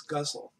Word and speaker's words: ghazal: How do you say ghazals or ghazals? Yeah, I've heard it pronounced several different ways, and you have to do the Arabic. Oh, okay. But roughly it's guzzle.